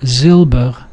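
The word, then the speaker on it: זילבער: or suffixes or endings the stress usually follows the stem the original word so so let's take a look zilber ziler it doesn't become ziler as you would assume with the second syllable from the last it still stays uh where it stayed in the original so it's zilber zner it doesn't it doesn't move however when it does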